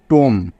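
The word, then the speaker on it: tomb: সমস্যা নেই তো বুঝতে বি টা এখানে পড়া হলো না কারণ বি এর আগে এম আছে তাই বোঝা গেল টি ও এম বি এটাকে কিন্তু টোম পড়তে হবে কখনোই টোম পড়া যাবে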